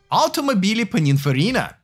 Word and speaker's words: Automobili Pininfarina: I'll pronounce it again. Automobili Pininfarina.